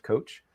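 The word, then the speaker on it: Kocs: Apparently the word goes back to a town in Hungary, spelled differently, but pronounced coach.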